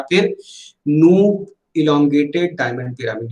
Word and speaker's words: Knoop: तो इस चीज को ध्यान रखिएगा कि माइक्रो हार्डनेस टेस्ट लगाना हो तो आप किसका यूज करेंगे, नूप माइक्रो हार्डनेस टेस्टिंग, KNOOP, ठीक है, के साइलेंट है।